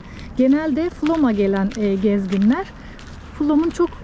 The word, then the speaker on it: Flåm: Biz şimdi flamı flam turistler genelde flam diyebiliyor burasını. O yüzden flam diye söylüyorum. Aslında ismi flam. E Norveç'teki üzerinde A harfinin üstünde yuvarlak harfi o olarak okunuyor. Onu da belirteyim. Genelde Flom'a gelen gezginler Flomun çok